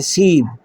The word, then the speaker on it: سیب: سیب ہم سیب کہتے ہیں اور فارسی کا تلفظ جو ہے وہ ہے سیب.